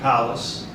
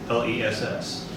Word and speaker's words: Powless: So you have to say your first and last name, you have to spell it. Okay, my name is Powless, Powless.